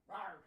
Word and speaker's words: RAR: Rawr, rawr.